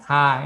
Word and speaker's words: 他: Nah, berikut tulisan ta ini ya, ta kan artinya dia. Ini kan suara aspirat, jadi agak ada angin yang menyembur dari mulut kita kan.